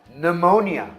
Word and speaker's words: pneumonia: O P também é silencioso no começo de palavras de origem grega.